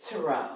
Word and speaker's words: tarot: It's tarot. Tarot. Like thorough, but tarot.